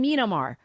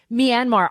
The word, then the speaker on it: Myanmar: on this um Greg am I saying it correctly Myanmar Myanmar Myanmar okay you see I was not saying it correctly Myanmar I love Greg you